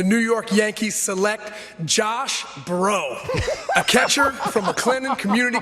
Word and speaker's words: Breaux: They had to be on the board like, please let bro have follow us. Stay Let here, bro drop to Josh. us. But it's spelled Breaux.